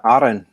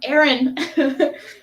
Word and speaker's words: Arran: I appreciate how you roll the R's on the Arran. It's not Aaron.